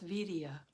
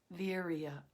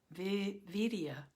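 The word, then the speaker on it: viriya: It's V-I-R, it's V-I-R-I-Y-A, and it's pronounced vidya or virya, vidya.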